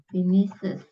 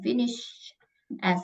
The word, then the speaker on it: finishes: harus pakai I is finishes cara bacanya finishes bukan finish S gitu harusnya karena belakangnya kan pakai SH jadi cara e ditambahkan S jadi bacanya finishes finishes Coba diulang incomplete